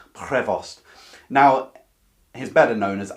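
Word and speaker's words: Prévost: i'm pronouncing that properly trying to catch that for the rs in french prevost now he's better known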